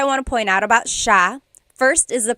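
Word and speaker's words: siya: couple things I want to point out about sha. First is the pronunciation. It looks like it should be pronounced sa cia. But it's actually pronounced sha sha.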